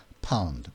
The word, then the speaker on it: pound: 때문에 그냥 혀의 위치 P는 두 입술을 붙였다가 터지는 파열음을 내면서 pound. 그렇게 꼭 침을 튀기란 말은 아니고 그냥 입술만 붙였다가 띄워주란 말이죠. 그냥 pound 그렇게 하면 된다는 거예요.